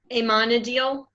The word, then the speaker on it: Amenadiel: How do you pronounce his name anyway? Amenadiel.